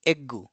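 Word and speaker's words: エッグ: fricative s and sha the Japanese perceive the final consonant as being long and tend to insert a small sue. So for example egg it will be eggu.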